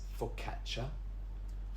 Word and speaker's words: focaccia: The next one is focaccia. Focaccia. Now, the double C is a ch sound, just like when you say cappuccino.